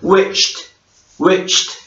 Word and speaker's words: wished: 이거 발음하실 때 끝에 wish 뒤에 ed 있잖아요. 이 t 발음하시면 됩니다. 그래서 wished 이렇게 발음하시면 됩니다.